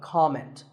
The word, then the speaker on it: comment: might leave a comment I have heard many speakers say comment now whether you use this word as a noun or as a verb the first syllable is always calm so it's never a comment it's a comment word number 11 is